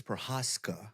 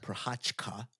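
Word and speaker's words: Jiří Procházka: Well, I think it's Prochazka, not Prochazka, because he is not Brazilian. That's how you say it in French. But he's not French. Well, anyways, and I'm gonna.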